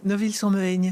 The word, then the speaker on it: Neuville-sur-Mehaigne: J'arrive jamais à bien prononcer. Neuville-sur-Mehaigne.